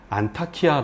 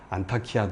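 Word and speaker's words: 안타키아: 여기다 이렇게 보시면 되겠죠 그래서 오늘날 터키 땅에서는 이하 타이 지방의 중심 도시로 않다 키아 라고 부르고 있습니다 그래서 어 7 세계 8세기 로 넘어오면서 이 무슬림들이 많이 점 정비하고 오랫동안 자리매김 하면서 그들의 발음을 차용해 옵니다 이렇게 터키는 터키의 언어가 있습니다 그래서 영어로 표기되어 있습니다만 읽는 발음은 아람어 엄마 무슬림의 언어가 좀 많죠 그래서 않다 키아 다 이렇게 불려지고 있는 것 그래서 정의한다면 히타이트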